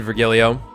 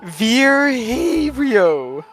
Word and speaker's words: Virgilio: bartender you look winded virgilio it's pronounced ver herio ver herio bro ver